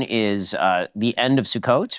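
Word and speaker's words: Sukkot: sit the say sukot spell it because I've seen it s u k k o t yeah the KK I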